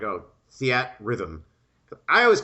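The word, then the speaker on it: Theatrhythm: So, I have to tell you that I interviewed the uh director for Theat Rhythm at uh at E3 a few years ago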